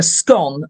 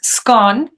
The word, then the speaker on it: scone: And one thing I forgot to say was it usually comes with a scone and fresh cream and jam. Right. As well. So you get all that. The pronunciation then, it's scone.